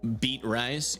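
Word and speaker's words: Beatrice: It's pronounced beat rice.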